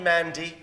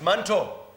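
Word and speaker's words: Manto: our Minister of Health her name is not Mandy it's mantle mantle chavala la misma Mandy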